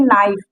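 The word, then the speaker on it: knife: यहाँ देखिए नाइफ, यहाँ पर के साइलेंट है।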